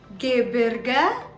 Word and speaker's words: Gebirge: So the next word is pronounced as Gebirge.